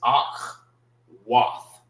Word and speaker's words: Akwath: But the proper way of saying it, like if you're in the classes, you'll learn the proper way of how to say it. It's Ak, Wath.